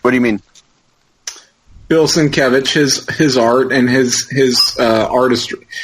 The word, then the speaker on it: Sienkiewicz: So I'm going to say my standout creative team is a singularity, and his name is Bill Sienkiewicz, which is not pronounced Sienkiewicz, but Sienkiewicz, just because everything he's ever done to me